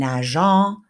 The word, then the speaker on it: nageant: We need to keep the cédia there to keep it a soft C. So we need to have that. Nager, nous nageons, and nageant is our present participle.